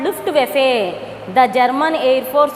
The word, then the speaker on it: Luftwaffe: What is the pronunciation, children? Luftwaffe. What was the pronunciation? Luftwaffe.